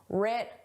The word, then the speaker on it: writ: The W is silent just like in the word right. The W is silent. But in spelling it's there. In pronunciation it isn't. Rit large.